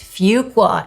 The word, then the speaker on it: Fuqua: And know how to pronounce the name of the school. Susan has a great story on Fuqua. Yes, it's Fuqua, and you'd better not mess that up in an interview.